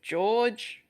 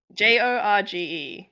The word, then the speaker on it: Jorge: I think it's George with a J, Rivera Herons. Jorge? It's a oh, is it? I don't know. Jorge. Yeah, Jorge. It's like Oh, is Spanish it?